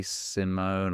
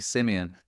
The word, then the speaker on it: Simeon: So people say Simeon or Simeon. It's actually Simeon, but everybody calls me Sim.